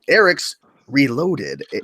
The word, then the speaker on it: airricksreloaded: Eric's Reloaded. That's how you pronounce it.